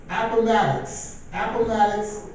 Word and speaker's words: Appomattox: Appomattox, Virginia, and gave a letter of defeat and said, we will end the war.